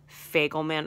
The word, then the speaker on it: Fagelman: It rhymes with Bagel Man, but with an F. Fagelman Assault.